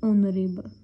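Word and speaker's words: honorable: जैसे the first word ही देखो, ऑनरेबल, H silent है, ओ से ओ की साउंड है, सो इसको क्या बोलेंगे, दी ऑनरेबल।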